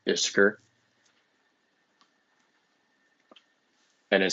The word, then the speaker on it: Ishkur: What's interesting is Ishkur appears in the story, and if I remember correctly, some translations pronounce his name as Ikur, Ickkur.